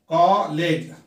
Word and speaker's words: college: कॉलेज में कितने syllable है? कॉलेज में जो है 2 सिलेबल है और एक जहां पर डबल जो लेटर होता है, एक लेटर जो है साइलेंट होता है जिसे हम नहीं पढ़ते हैं।